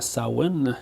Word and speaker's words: Samhain: Bon, c'est au Samhain, là, ce qui est écrit dans le deuxième film, là, mais qui se prononce supposément Samhain, finalement, c'est correct.